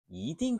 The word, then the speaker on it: 一定: Ở đây, 一 được phát âm bằng thanh thứ hai.